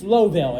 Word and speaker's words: Lowville: Okay, it's Lowville. It's written low.